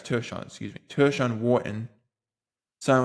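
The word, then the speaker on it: Tershawn: I I think it's pronounced Tershan, but yeah, it's Tershan, excuse me.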